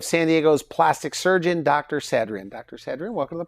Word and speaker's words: Sadrian: Sadrian or Dr. Sadrian? True pronunciation is Sadrian, but most people say Sadrian. It's easier for them to pronounce it as Sadrian.